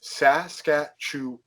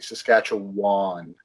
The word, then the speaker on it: Saskatchewan: was born in Manitoba, we pronounce it Wan, not Win or whatever other crazy way of doing it. As in Obi-Wan. Oh, as in Obi-Wan, exactly. Saskatchewan.